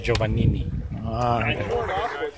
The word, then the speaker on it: Giovanini: name is and the other last name is joanin Alias exactly thanks